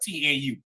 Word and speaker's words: tau: I believe it's the 19th Greek letter, T-A-U. It's pronounced tau, but it's really a cross.